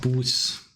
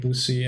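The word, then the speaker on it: Buse: My wife is Turkish and her friend Boots, which is a Turkish name, came to visit us. However, it is pronounced like Boosie and I could not explain to my wife what I thought was funny.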